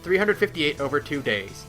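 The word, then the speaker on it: 358/2 Days: 358 over 2 days is that how you pronounce it yes 358 over 2 days is because remember Kingdom Hearts 2 begins with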